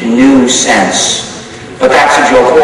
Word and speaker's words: GNU: there is a nuisance which is written G new sense but that's a joke also you see